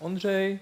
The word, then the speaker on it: Ondřej: company assist yeah and I am Andre but no one in this room probably will pronounce it correctly so just call me Andra it's okay and I